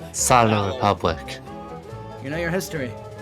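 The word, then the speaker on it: Salò: Salo. Salo Republic.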